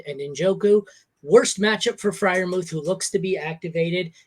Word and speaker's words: Freiermuth: If I'm talking as a gambling man, I'm gonna go with, and I always have a struggle pronouncing his name, Parmuth. How do you say Freiermuth? Freiermuth.